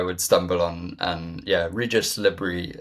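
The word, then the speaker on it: Régis Le Bris: And yeah, Regis Lebris is what I've come to, is what I believe it is, how Le, it is pronounced.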